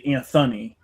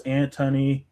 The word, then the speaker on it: Antony: You see, because my name is Antony without the H, so it's like Mark Antony from like Shakespeare's like plays, like I don't know, like Caesar's play or whatever. So, but anytime someone has to say my name, they always say Anthony. So I'm also, I am always having to say, no, it's Antony, Antony. There's no H in that.